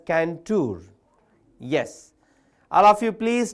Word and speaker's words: Cantor: So once all of you please text George Canour George Canour George Canour C A N T O R but you have to pronounce it as Canour.